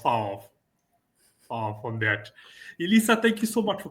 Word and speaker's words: Elissa: Elisa Heekka, correct? Yes, you are correct. Yes. It is. It is Melissa without the M is the easiest way to remember it.